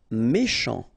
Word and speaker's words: méchant: Méchant. Final T not pronounced. Then C-H, ch, chant, méchant.